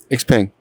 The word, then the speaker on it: Xpeng: Xpeng.